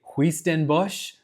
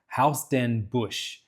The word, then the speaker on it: Huis Ten Bosch: We went to a theme park in Nagasaki called Well, I would say Huis Ten Bosch, but the Dutch are crazy and apparently it's pronounced Huis Ten Bosch.